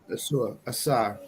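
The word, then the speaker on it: Ausar: So, how's it pronounced? Asar.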